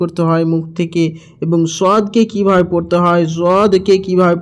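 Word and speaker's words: ث: তা সা এই সা অক্ষরটিকে আমাদেরকে বের করতে হবে একটু জিহ্বাটাকে দুই দাঁতের মাঝামাঝি কিছুটা বের করে রাখতে হবে এই সা অক্ষরটিতে তাহলে আমাদের এই সা অক্ষরটি বের হবে আর না তো আমাদের সিন উচ্চারণ চলে আসবে সা এর জায়গায় আমাদের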